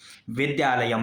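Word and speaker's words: विद्यालयम्: का अर्थ है, और इसका उच्चारण कैसा होगा? मां की तरह, विद्यालयम।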